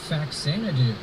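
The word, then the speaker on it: Faxanadu: Number three is Faxanadoo. That is my preferred pronunciation of it.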